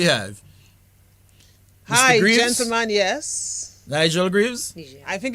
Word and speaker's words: Nigel: My Yes. name is pronounced Nigel. It's got a bit of a French pronunciation.